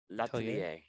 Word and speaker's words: L'Atelier: What's the pronunciation on this one? Letelier? L'Atelier. Yeah. Letelier.